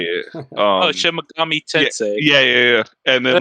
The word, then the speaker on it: Megami: You know, like what it's a Shin Megumi Tensei or whatever. I Yeah. never know how to say it. Oh, Shin Megami Yeah, Tensei.